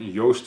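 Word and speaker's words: Joost: Yost is awesome and Yost is spelled J oh oh SD is awesome your sister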